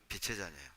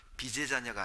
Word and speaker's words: 빛의 자녀: 삶을 하나님이 기뻐하신다 뜻이죠 우리는 빛의 자네 발음을 잘 하셔야 됩니다 비제 자녀가 아닙니다 비제 자녀가 아니라 빛의 자네 빛의 자 알 오자